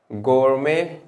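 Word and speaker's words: gourmet: even अगर हम कहे गोरमे इसको गोरमेंट नहीं पढ़ते गो में टी साइलेंट होता है गोम या गमांड इन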